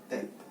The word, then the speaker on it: teta: θ é essa letrinha aqui Teta. Teta. É uma letra grega, ou seja, pronuncia teta.